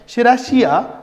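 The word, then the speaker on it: Serratia: शेराशिया, pronunciation ऐसा है शेराशिया, okay. आप शेराशिया, लेकिन याद रखने के लिए सेराठिया, याद रखने के लिए सेराठिया, ओके।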